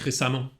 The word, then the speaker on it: récemment: Обратите внимание на произношение récemment. Пишется через «э», но произносится «а». Récemment, а не récemment.